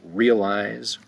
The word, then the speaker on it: realize: Let's go down to number 8, realize, realize, realize, 2 syllables, realize. I don't think anybody says 3 syllables, realize.